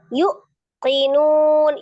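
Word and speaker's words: يُوقِنُونَ: Jadi bukan dibaca yu tapi yu, dua harokat.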